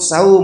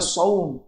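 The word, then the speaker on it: صوم: pelafalan yang yang fasih menyebut saum yang benar shaum menyebut salat yang benar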